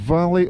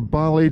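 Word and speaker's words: Vallay: the ruined buildings on the island of Valley or Bali, depending on your pronunciation, if it's English or Gaelic you're speaking I think, but that's where we were a few days ago.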